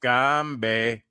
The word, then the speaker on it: Gombe: it's pronounced Gombe, Gombe, Gombe.